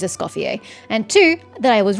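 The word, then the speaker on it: Escoffier: Okay, good to know that one, I pronounced her name correctly. It is Escopier.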